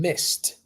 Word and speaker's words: missed: when we have the word like Miss and missed Miss missed Miss missed you don't say Miss